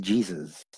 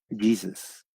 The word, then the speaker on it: Jesus: Por eso que en inglés también se escribe igual que en español, pero se pronuncia Jesus. Jesus. No lleva el acento en la U. Jesus.